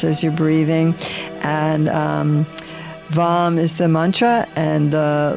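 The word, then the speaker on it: वं: this orange chakra and the one syllable Sanskrit mantra for this chakra is um also in uh is is vom vom where you visualize orange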